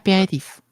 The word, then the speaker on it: aperitif: yes, it's just an aperitif. If I pronounce it correctly. Aperitif.